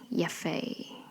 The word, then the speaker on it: Yaffe: Yaffe.